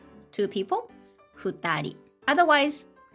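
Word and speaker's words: 二人: just two exceptions one person hitori two people futari otherwise right and 100 people yeah it's just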